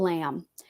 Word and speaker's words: Lam: saying it right Dr Paul lamb l-a-n Paul lamb it's not like the sheep lamb there is no B it's l-a-m so I'm gonna have